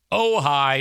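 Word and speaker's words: Ojai: Ohhigh is how you pronounce that city in California.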